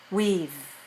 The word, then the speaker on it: we've: okay now we have when we make a contraction we say weave weave weave weave yeah we've known